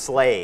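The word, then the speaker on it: sleigh: ที่ สำคัญ นะ ครับ คำ นี้ นะ ครับ รถ ลาก เลื่อน ของ แซนตา คอส นะ ครับ เรียก slay เหมือน จะ สะกด ว่า S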